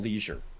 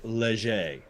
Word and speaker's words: Leger: 45 minute interview with Jonathan Leisure uh sorry Leger is how you pronounce his name properly he's the guy that